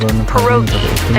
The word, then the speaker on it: pierogi: Did I pronounce that right? It's pronounced pierogi, a tasty dish like dumplings.